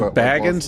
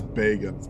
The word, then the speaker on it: Bagans: Is it Baggins? Is his name seriously Baggins? He says Bagans, but I'd say it wrong to piss him off because he annoys the living shit out of me.